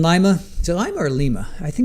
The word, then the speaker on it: Lima: I think is it Lima? I think we pronounce it Lima.